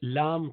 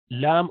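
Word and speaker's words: ل: lamb comes al and I mentioned that lamb of Arabic has slightly wider portion of the tongue touching the top unlike will do lamb or English l where you only touch little bit in Arabic you use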